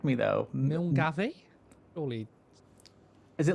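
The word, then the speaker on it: Milngavie: Milgai.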